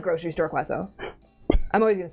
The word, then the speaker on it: croissant: Maybe they're like grocery store quaso. I'm always going to say it wrong, by the way. She she says quaso specifically for the bit of Yeah. Croissant.